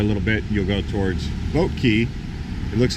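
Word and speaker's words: Boat Quay: that way a little bit you'll go towards boat key it looks like clay q at UA but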